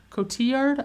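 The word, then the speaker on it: Marion Cotillard: Um, Marian Kotilla Kotiard, Kotiard, I think is how it's pronounced, who plays Miranda Tate/Gasp.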